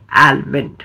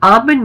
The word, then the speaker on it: almond: pronounce किया जाता है by saying आलमंड सो आमंड में जो एल है वो बिल्कुल साइलेंट है और उसे उसे यूज नहीं करना है सो the right way of announcing this word is आमंड for example आमंड milk